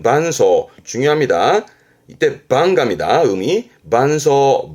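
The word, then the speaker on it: 伴奏: 그러니까 연주할 때 옆에서 반주하는 발음은 반소.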